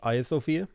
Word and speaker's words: Hagia Sophia: religions who have made it beautiful there's the hagia sophia and i was told it's pronounced aya sofia um so that's how i pronounce it now